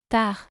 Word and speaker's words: tard: Tard. The final D in a word is not pronounced in French.